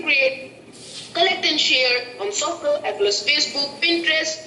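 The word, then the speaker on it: So.cl: It is Soccer, and it is spelled as SOCL. It is a creation of Microsoft Fuse Labs. They have named it as Social, but it is abbreviated as Soccer.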